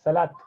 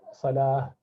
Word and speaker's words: salah: it comes to salah and zakah we say salat and zakat that's that's not correct we should say salah yeah this is zakah okay so that is